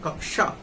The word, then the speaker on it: कक्षा: तो देखिए अगर शुरू में ये आ रहा है तो हम छ का ही उच्चारण करते हैं इसमें, जैसे क्षमा, है ना, क्षमा, लेकिन अगर बीच में आएगा तो हम कश, है ना, जैसे कक्षा, इसका उच्चारण करेंगे कक्षा, यद्यपि छ की ध्वनि आ जाती है, कुछ लोग पूरा छ बोल देते हैं लेकिन नहीं आएगा, क्षमा, है ना, क्षमा, क्षमा मूर्धा से लेकर के बोलेंगे, है ना, चूंकि मूर्धन्य